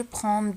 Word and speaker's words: prends: je prends لاحظتو دي ما كنطقوهاش، ما كنقول je prends de je prends non je prends.